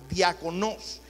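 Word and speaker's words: διάκονος: Viene de la palabra griega que se pronuncia diakonos.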